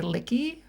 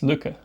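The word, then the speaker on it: Lykke: A lot of people say licky or like. I think it's Leica, right? No, it's Luca. Luca? Yeah. Okay. It's like luck.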